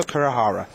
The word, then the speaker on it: Kurahara: done it again Rich you're mispronouncing the guy um it's spelled Shinu uh but apparently shingo Jingo kurahara uh is what I need to say so there we are